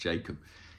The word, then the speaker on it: Jakub: In fact, I think it's pronounced Jacob. I need to stop saying Jakub. I'm sort of trying to be more sophisticated, but I think it is just pronounced Jacob.